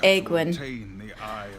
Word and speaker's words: Aegwynn: I I didn't realize it's pronounced Aegwynn.